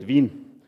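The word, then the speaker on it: Wien: visit today actually here so we call it Vin but uh I actually live and come from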